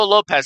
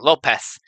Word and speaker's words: Lopes: With that being said, Diego Lopes has a very high chance. Why did I say his name? Lopez. Lopez. Lopez? Well, it is Lopes.